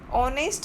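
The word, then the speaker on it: honest: ऑनेस्ट में हम जब प्रोनाउंस करते हैं, उसको बोलते हैं, तो उसका साउंड ओ निकलता है। ऑनेस्ट ओ यानी वॉवेल होता है, जो आवाज़ जो हम साउंड करते हैं वो वॉवेल होता है।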